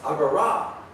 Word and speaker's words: Agora: says, "Oh, I know, the Greek has an accent over the final alpha. It's Agora." So I'm trying to remember to pronounce it Agora.